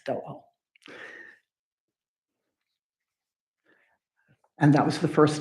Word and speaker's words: Doel: And I know it's pronounced Dole because somewhere else I read that it rhymes with Noel. So it's Doel.